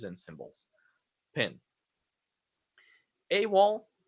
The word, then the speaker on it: AWOL: This one is pronounced as a word. AWOL.